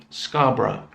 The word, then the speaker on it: Scarborough: we saw in the the story was scarborough scarborough so this is a proper noun in this